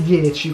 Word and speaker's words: iPhone X: iPhone, per la gente legge iPhone X, che cafonata è, però si legge 10.